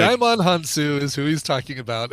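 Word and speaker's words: Djimon Hounsou: I would have thought so too, because it looks like Jaimon Hansu is who he's talking about, and all he's doing is just pronouncing the D that's at the beginning of that name.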